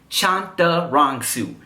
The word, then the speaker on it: Chantarangsu: you didn't know my government name is tim chantarangsu timothydelaghetto studying how to memorize it and spell it all right chop the wrong soup Shanta